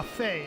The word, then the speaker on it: Fi: Ah, Fay. Yes, that is the pronunciation.